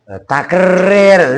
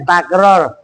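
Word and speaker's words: تكرير: Bitakrir. Takrir. Lu bacanya takror. Dewer menjadi. Lah iya. Lah orang takrir masa takror.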